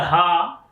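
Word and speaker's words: ح: But here is the using of the ha shape, looks like two eye. Ha is pronounced with your chest and with your hearts.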